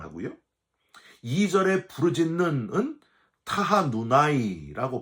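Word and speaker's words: תַּחֲנוּנָי: 1절에 부르짖었나이다 라는 단어는요, 커라티카라고 발음을 하고요, 2절에 부르짖는은 타하누나이라고 발음을 합니다.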